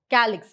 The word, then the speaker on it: calyx: So what they have done is, according to the pronunciation, it's K. So calyx, K.